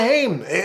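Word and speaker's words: Haim: crazy who who oh he said it wrong it's a lana hame for licorice pizza jennifer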